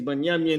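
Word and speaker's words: בנימין: Their name is Binyamin in Hebrew, and that's how you pronounce that.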